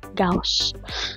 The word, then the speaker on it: Gauss: according to the internet the pronunciation to this is c just like the house so Palitan mo yung h ng G so gaus so This is gauss's